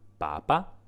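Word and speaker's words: papa: यदि यह पहले अक्षर पर पाया जाता है, तो मुझे "पापा" पढ़ना चाहिए। यह शब्द कैथोलिक चर्च के प्रमुख, पोप की पहचान करता है।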